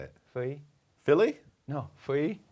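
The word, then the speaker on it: Feuilly: Fui. How do you say it? Fui? Philly? No, Fui. Philly?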